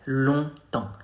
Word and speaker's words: longtemps: Ça fait longtemps. Ça fait, not fait, fait, longtemps. Two nasal sounds here.